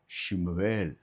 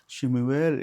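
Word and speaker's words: שמואל: அந்த சாமுவேல் என்பதற்கு ஹிப்ருவில் ஷிமுவேல் அப்படின்னு எழுதியிருக்காங்க. ஷிமுவேல் என்று அவர்கள் உச்சரிக்கிறார்கள் ஹிப்ருவில்.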